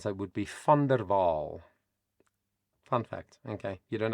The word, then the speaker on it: VanderWaal: in Dutch and Africans a V in spelling the sound of it is F like an F in English and a W in Africans and Dutch is pronounced VV like a V in English.